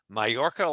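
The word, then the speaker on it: Mallorca: Uh, but um, yeah, it's properly spelled two ways. Mayorca, like hot air, Tom spelled it with the double a double L's or M A J O R C A and it's pronounced the same.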